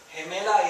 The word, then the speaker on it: gemela: If the U is not there, it's gonna sound he, like a J. He. Gemela is twin.